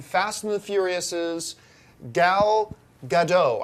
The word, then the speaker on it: Gadot: Wonder Woman is none other than Fast and the Furious's Gal Gadot. I believe that's how you pronounce her name, Gadot.